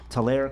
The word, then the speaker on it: Tulare: They're based right here in Tulare, California. Is that how you say it? Yes, correct.